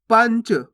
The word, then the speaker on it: पंच: पंच कैसे पढ़ेंगे? पंच, पनच नहीं, पंच। देखो इसका उच्चारण नाक से निकलेगा, आप बोलोगे ना पंच, बस इतना ही उच्चारण करना है आपको, पंच।